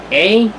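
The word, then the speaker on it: Ei: A, Raiden May from Honkai Impact.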